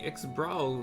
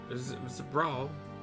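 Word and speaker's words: Xbr'aal: As you can probably tell, the figure depicted here is of the Ixbrawl like me, the lion people. For decades, the Ixbrawl, Brawl, however you want to pronounce X, Bravo, R, apostrophe, A-A-L.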